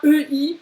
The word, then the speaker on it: Ei: Donc, c'est bien le EI qui fait Ei. Ei. Vraiment comme quand tu te fais mal.